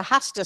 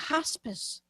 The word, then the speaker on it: hospice: When he called me, he said, It's a hostis situation. Hostas? Like the garden plants? Hostage? Hostis, he insists. Nurses come in twice a week. Ah, hospice.